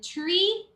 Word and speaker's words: tree: sometimes interchanged and then tree the t is a hard te tree it's not uh tree tree you know sometimes it sounds like a a d also dree no tree tree and then any